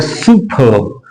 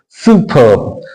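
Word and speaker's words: superb: उसको र को प्रोनाउंस करते हैं, नहीं तो प्रोनाउंस नहीं करते हैं, ये शांत हो जाता है। तो ये हो गया सुपर्ब। सुपर्ब।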